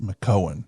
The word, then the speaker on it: McKeown: pronounced McKeown.